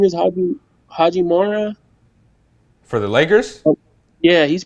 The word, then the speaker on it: Hachimura: Haji Mora.